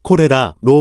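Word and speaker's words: 虎列剌: 이름도 없었을 것이다 그래서 일본에서 서양인들이 말하는 콜레라를 그대로 따라 코레라로 발음하였다 그리고 콜레라에 해당하는 한자 호열자로 쓰게 된 것이다 호열차 늘 우리나라 식 발음으로 읽으면 호열자가 되지만 일본식 발음으로 읽으면 코레라가 된다 이와 비슷한 경우가 남만이란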